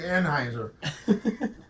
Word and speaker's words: Anheuser: How many fucking Americans you know named Anheuser? Don't pronounce the E. It's like Heiser.